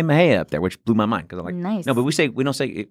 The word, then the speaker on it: Mexia: was surprised when I saw it was spelled M EXI a surprise that a it was spelled in Spanish and they pronounce it instead of saying Mexia because the